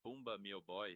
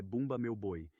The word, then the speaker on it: Bumba Meu Boi: e depois apresentações de Bumba Meu Boy. O que você disse? Eu. Mencionei o Bumba Meu Boi. Esse é o festival teatral do qual eu estava falando. A pronúncia é Bumba Meu Boi, e ele conta essa